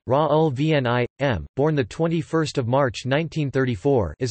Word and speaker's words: Raoul Vaneigem: Raoul Vaneigem, Dutch pronunciation, Raoul Vaneigem, born 21 March 1934, is a Belgian writer known for his 1967 book The Revolution of Everyday Life.